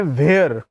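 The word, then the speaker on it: where: वेयर में again H आपका sound कर रहा है, एच साउंड नहीं करना है, वेयर. तो एक तरह से इसका जो उच्चारण है, वेयर का मतलब कहाँ होता है, वेयर का मतलब कहाँ होता है, तो आपको सिंपली वेयर बोलना है, वेयर.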